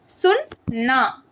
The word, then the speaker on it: सुनना: அப்போ எப்படி சொன்னால் சுன் நா. இது வந்து பெரிய நா. ஓகே, டபுள் ஏ அது மாதிரி இருக்கும்.